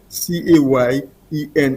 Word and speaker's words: Cayenne: pronounce sometimes so it's c a y e n n e cayen like in cayenne pepper I I got you so